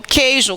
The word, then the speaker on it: queijo: Tem, por exemplo, queijo. Queijo, eu falo queijo?